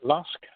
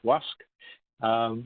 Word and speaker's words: Łask: And there's a little red marker here by Lusk, or as it's pronounced in Polish, Łask, which is just to the west of Łódź, or Lodz, which are both to the west of Warsaw.